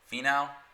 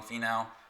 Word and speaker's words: Finau: Sion Finau. So that's like Tony Finau. Sion Finau.